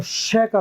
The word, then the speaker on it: chic: तो श का साउंड भी आता है, च, कै और श।